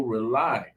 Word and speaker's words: Rauli: Rely is spelled Rauli.